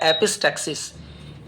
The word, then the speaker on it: epistaxis: नक्सीर, नक्सीर को इंग्लिश में कहा जाता है एपिस्टैक्सिस, EPISTAXIS, एपिस्टैक्सिस।